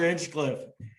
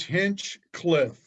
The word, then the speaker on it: Hinchcliff: only the magnificent hitchcliff so give me everybody's pronounces my last name horrendously how do you truly pronounce your last name it's hinch cliff and it's uh it's british it's british yeah i'm